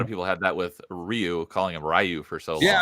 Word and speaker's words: Ryu: it's like oh no Ryu is a name so like I am pronouncing wrong if I call Ryu and and Street Fighter rayu so and James is